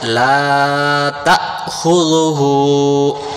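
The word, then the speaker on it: لَا تَأْخُذُهُ: তাহলে আমরা বলবো, অনেকে বলে লা তাখুযুহু। যদি আমরা এখানে লা তাখুযুহু বলি, এই যে শব্দটা দেখা যাচ্ছে আলিফের উপরে সাকিন দেওয়া, তখন এই আলিফটা বাদ চলে যাবে। তাহলে এই আলিফটাকে হামজা রূপান্তরিত হয়ে গেছে, এটাকে আমরা আদায় করার জন্য আমরা বলবো লা তা, বলেন লা তা, আবার বলেন লা তা, আরেকবার লা তা, খুযুহু, খুযুহু, সিনাতুন সিনাতুন,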